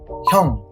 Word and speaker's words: 형: 혀 plus NG. 형.